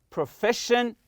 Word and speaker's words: profession: Like here, position, satisfaction, profession. Always stress the next to last syllable.